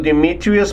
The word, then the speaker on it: Dimitrios: And for that, we're gonna talk to Dimitrios Papadogonos.